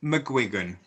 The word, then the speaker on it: McGuigan: his name for real right the the official pronunciation of my surname is mcguigan mcguigan uh there was actually there was actually